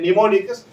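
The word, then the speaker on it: mnemonics: popular known as निमोनिक्स इसकी spelling M से start who A silent रहता है निमोनिक्स इन लजी राइट द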